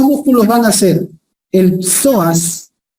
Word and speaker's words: psoas: Los dos músculos van a ser el soas. Miren cómo se escribe, como si fuera psicólogo. Psicólogo p soas mayor y el músculo ilíco.